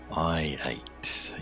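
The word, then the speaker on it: Hoji: Which some people thought was mispronounced last stream. I-8.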